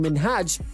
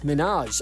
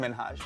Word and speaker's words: Minhaj: She kept pronouncing Minhaj as Minaj, and in all honesty, no one wants to hear their name pronounced wrong.